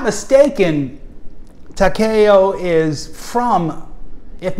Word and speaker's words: Takeo: Takeo? How do you pronounce it? And he tells me this. He says Takeo. It's Takeo. Pretty much even stress on all syllables.